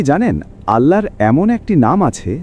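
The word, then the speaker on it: الله: আল্লাহর 99 টি নামের মধ্যে প্রথম এবং সবচেয়ে গুরুত্বপূর্ণ নাম হলো আল্লাহু। আরবিতে আল্লাহু। বাংলায় উচ্চারণ আল্লাহ অর্থ সর্বশক্তিমান স্রষ্টা একমাত্র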